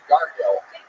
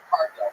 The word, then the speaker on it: Cargill: Am I saying that right, or is it Gargill? Gargill or Cargill? Cargill.